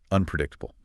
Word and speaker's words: unpredictable: And that's paired with the abstract noun unpredictable. Yes, unpredictable means you can't know what will happen next. It implies risk. For pronunciation, make sure to stress the third syllable. Unpredictable.